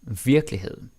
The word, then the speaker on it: virkelighed: Then we got virkelighed. En virkelighed, or virkelighed. But again, that E usually doesn't get pronounced.